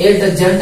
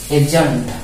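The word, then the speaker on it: adjunct: इसी कारण इसको पढ़ेंगे एजेंट, यानी इसमें डी का उच्चारण होगा ही नहीं, ठीक है।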